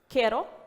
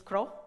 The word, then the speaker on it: KRO: It's introducing Kero. This is the way that needs to be pronounced. I have to admit that the easy way is Kro. I tend to say it like that.